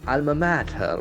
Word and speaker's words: alma mater: mater okay matter okay so the pronunciation is very important because it has got the Latin origin so you cannot speak that word as we normally speak it has got a different pronunciation once again it's a